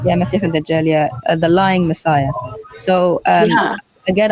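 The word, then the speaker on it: المسيح الدجال: And they actually don't say it like that. They say it with a kha. Yeah, Masih al-Dajjal, the lying Messiah.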